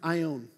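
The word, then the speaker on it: αἰών: and it's this great word right here it's pronounced i own and i own is a interesting word that's used for time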